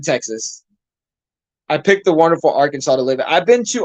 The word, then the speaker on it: Arkansas: so long ago uh people don't even pronounce uh Arkansas right Neil it's it's not Arkansas it's Arkansas yeah I had Grimlock